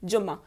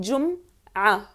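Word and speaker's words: جمعة: और फ्राइडे को तो आप सब जानते हो, कहते हैं जुम्मा, जुम्मा, उर्दू और हिंदी में प्रोनाउंस करते हैं जुम्मा, जुम्मे का दिन, जुम्मा, लेकिन अरबी में कहते हैं जुम्मा, जुम्मा, योम अल जुम्मा।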